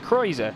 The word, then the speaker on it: Cruiser: Cruiser is pronounced Kreuzer, so there we go.